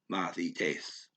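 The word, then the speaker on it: μαθητές: That's the hard TH. So I got to say moth, but not stress that syllable because it's not stressed. So it's moth, Mathites, Mathites, Mathites, Mathites, Mathites.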